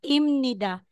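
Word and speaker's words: 입니다: po Okay so babasahin natin yan ngayon na imnida Hindi Hindi po letter m na po yan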